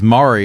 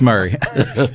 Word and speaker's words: Murray: okay Franklin 3600 um Murray County that's how it's pronounced here I got to I got to figure these counties out I heard a joke though one time it was Mari instead of Murray that was a fun